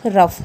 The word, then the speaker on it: rough: ROUGH रफ, ROUGH रफ। तो यहाँ पे किसकी साउंड कर रहा है, एफ की साउंड कर रहा है, तो ये कुछ केसेस में है, ये आपको ध्यान रखना है।